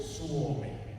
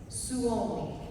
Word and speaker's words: Suomi: And actually, I just found out, how do you say Finland? Do you say it as Finland? Suomi. Suomi. Suomi. All right, there we go. We all learned. That's the proper way to say it, right? I just learned that like 5 minutes ago. It's the way Finnish people say Finland. Suomi.